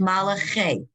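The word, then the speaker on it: מלאכי: It's malache. This is a chaf.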